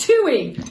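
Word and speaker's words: tūī: You have a tui, pronounced tui, Nice.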